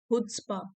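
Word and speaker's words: chutzpah: यहाँ पे सी साइलेंट है। हुड्सपा, ऐसे बोल सकते हो इसको, हुड्सपा।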